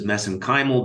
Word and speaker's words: mesenchymal: which I pronounce as mesenchymal because that's how they pronounce it in Ireland I know there's other